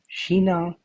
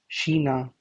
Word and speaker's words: China: rubbish Hong yang comptos Sheena or China or there are multiple pronunciations of China in Deutsche you can also say China but uh I've heard people say Sheena Shanghai so Shanghai Frau